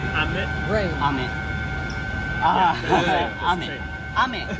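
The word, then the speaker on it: 飴: It's Ame. like ame. Rain. Ame. Yeah. Ame. Ame. Ame. Yeah. And what is what? Ame.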